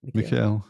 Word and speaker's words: Mikhail: How do you pronounce it? Mikhail? Mikhail, yeah.